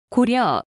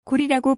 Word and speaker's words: 고려: 려가 아니라 리라고 있습니다 고려 고려가 아니라 고리라고 발음해야 올습니다 고구려 고구리 역시 고려